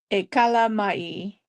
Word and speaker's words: E kala mai: KALAH, so A Kala, and then Mai, which is MYE.